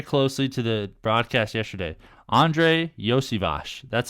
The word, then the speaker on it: Iosivas: Andre Iosivas.